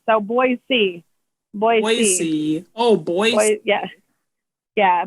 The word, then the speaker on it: Boise: no they don't say boise they get mad at uh people they said they said say like boy and then c like so boy c boy oh boy yeah yeah but i say boise like like new jersey